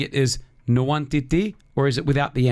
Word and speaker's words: Nwantiti: So the NW is like pronounced as Mwa. Mwa. Mwah. Nwantiti, not Nwa. Come on, Chris, don't destroy it. It's like Mwa.